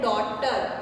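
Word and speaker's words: daughter: अब ये है डॉटर, इसमें भी GH साइलेंट है।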